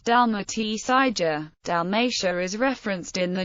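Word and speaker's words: Dalmacija: in modern Italian dalmia the modern Croatian spelling is Dalia pronounced Dal SAA dalmia is referenced in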